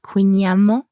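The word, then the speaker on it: kouign-amann: Ouais, il y a un petit débat sur la prononciation de Queenyaman. Oui, c'est un mot breton. Oui, exactement. Et je pense qu'il y a quelques Bretons, parfois ils disent peut-être Queenam euh mais je crois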